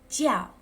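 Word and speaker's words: 叫: It's only for you to get your pronunciation in the first round. This one is jiao, jiao, jiao.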